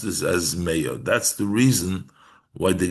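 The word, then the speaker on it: מאה: So the Gemara, Reb Meir darshans, "Al tikri ma elo meyo." Don't pronounce this as what, but as meyo, elo meyo.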